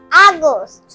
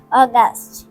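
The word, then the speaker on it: August: বন্ধুরা, এখন আমরা 8th মাসের নাম লিখব আগস্ট। স্বরে আ, গো, শয়ট, আগস্ট। এ ইউ জি ইউ এস টি, আগস্ট। এর আসল উচ্চারণ স্বরে ও, গকার গা, স্বর, অগাস্ট।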